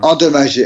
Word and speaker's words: endommagé: И еще получается вот это слово он дамаже, вот так произносится примерно. Endommagé, endommagé, Он endommagé.